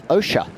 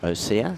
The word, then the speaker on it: Osha: Osha, as in ocean, not Osea.